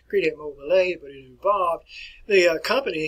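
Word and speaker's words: Crédit Mobilier: as the crete mobile you probably would pronounce it credit mobilier we won't pronounce it that way credit mobile a but it involved the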